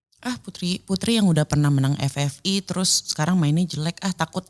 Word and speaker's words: FFI: Oh ngomongnya Fevi. FFI. Bukan Fevi.